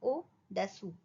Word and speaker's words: au-dessous: यहाँ पे ओ यू का साउंड ऊ है, बस हमें ये ध्यान रखना है.